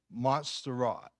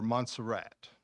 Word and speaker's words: Montserrat: And it's a font called Montserrat, or Montserrat, is English or American pronunciation.